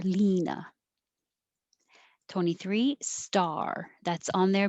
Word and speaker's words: Lena: beginning number 21 just l-e-n-a most americans would guess lina with an e your tongue goes higher lina 23 star that's on